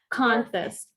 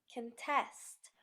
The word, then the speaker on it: contest: address on the envelope we often stress the second syllable of a two-syllable verb can test produce perfect address the trees produce fruit she will address the meeting now it's your turn